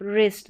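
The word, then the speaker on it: wrist: तो यहाँ पर देखिए पैटर्न 5th में है डब्ल्यू आर, यहाँ पर जो है डब्ल्यू साइलेंट रहता है, डब्ल्यू आर का कॉम्बिनेशन रहेगा और डब्ल्यू यहाँ पर साइलेंट रहेगा। तो ये देखिए स्टार्टिंग में डब्ल्यू आर है और यहाँ पर जो डब्ल्यू है वो साइलेंट है। राइट, रॉन्ग, रैप, रिस्ट, तो यहाँ पर आर से उच्चारण हो रहा है, डब्ल्यू साइलेंट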